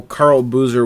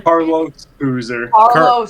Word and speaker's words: Carlos Boozer: Carl Boozer? Carlos Boozer. Carlos. Oh, I said it wrong.